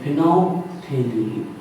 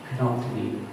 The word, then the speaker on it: phenolphthalein: यहाँ से L silent है और यहाँ से आपका पीएच तो पीएच को तो जोड़ लेंगे, यहाँ पर पीएच साइलेंट है तो फिनोल्फथलीन ऐसा इसका नोट कर लीजिए, फिनोल्फथलीन। ऐसे याद करिएगा सेगमेंट में, पहले फिनॉल और फिर पीएच याद रखना थैलीन, फिनोल्फथलीन।